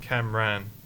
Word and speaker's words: Cameron: Cameron, but you're just Camran. Is But it it's not pronounced that way. That's how it should be pronounced. Your mum just can't It's- spell Cameron. It's more like Kamran. Camran. Camran.